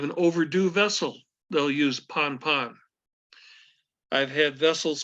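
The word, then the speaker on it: pan-pan: priority level is an urgency call which is pronounced as ponpon now I know your books says it's p-a-w-n pronounced Pawn I have only heard a couple of times in 50 years with the pawn pawn most of it is ponpon and it indicates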